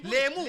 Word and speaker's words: لیمو: لیمو, لیمو, نیمبو, نیمبو بولتے ہیں, نیمبو نہیں صحیح تلفظ, نیمبو نہیں ہے, نیمبو نہیں, لیمو, لیمو ہے صحیح تلفظ.